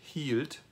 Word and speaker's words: hielt: So IE is not phonetically completely logical in German, it just represents a long E sound. So it would be ich hielt, du hieltst, er, sie,